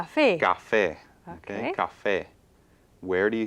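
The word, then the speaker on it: café: natural accent so it's the actual stress is on the last syllable so it's Cafe Cafe so it does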